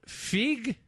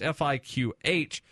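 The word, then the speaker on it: fiqh: of sharia is called fig I I know I'm not pronouncing that right it's fiq or Islamic jurist Prudence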